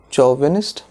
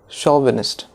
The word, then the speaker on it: chauvinist: Is it chauvinist? No, it is not chauvinist. It is chauvinist.